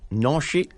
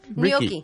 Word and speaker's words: gnocchi: Participants will learn sweet and savory recipes, including vegetarian squash shepherd's pie, blue Hubbard squash noshi, and more. Wait, Gnocchi.